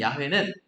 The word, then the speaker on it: 야훼: 그리고 야훼 가운데 있는 야훼는 시편 23편의 여호와는 나의 목자시니 잘 아시죠 내게 부족함이 없으리로다 우리가 여호와라고 부르는 그 하나님의 이름이 히브리어 발음은 야훼예요 야훼 그리고 L 샤다이는 오늘